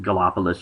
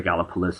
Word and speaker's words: Gallipolis: across from point pleasant if you pronounce it gallopolis or gallipolis it depends on the colloquialism of your area from where you're located back back to your original